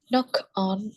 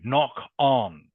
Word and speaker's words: knock-on: Knock on. Knock on. You'll notice the first K, by the way, is silent.